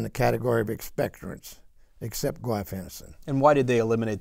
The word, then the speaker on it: guaifenesin: The ingredient's called guaifenesin, and I hope I said it right.